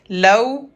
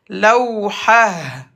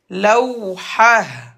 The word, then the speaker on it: لوحة: T fermé se prononce comme Ha. Lawhah. Lawhah.